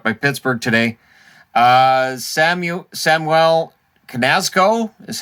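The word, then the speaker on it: Samuel Knazko: depth picked up by pittsburgh today uh samuel samwell canasco is how they pronounced it uh defenseman columbus pick columbus got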